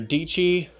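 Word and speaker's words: Dietschy: Pro are people like Sarah deechi rhymes with peachy and Linus tech tips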